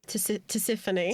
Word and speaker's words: Tisiphone: Tisiphone.